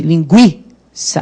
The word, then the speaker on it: Linguiça: Linguiça, por exemplo, o U é pronunciado, né, ele tem som, e o I é fraco. E o I é que é forte. Linguiça, é o I que é forte.